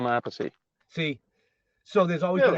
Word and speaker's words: Appice: you said it correctly for Vinny, but if it was Carmine, it would be Appice. Yeah, he's Appice. I'm Appice.